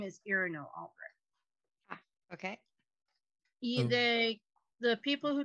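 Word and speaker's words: Iarno: Irino. I-A-R-N-O. Irino. I know, I'm still learning the pronunciation right. Mm-hmm. So he'll say he's looking for Irino.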